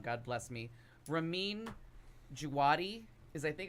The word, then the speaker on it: Ramin Djawadi: Well, now we have, and I'm going to pronounce his name wrong. God bless me. Ramin Djawadi is, I think, how you pronounce his name, if I'm saying it right.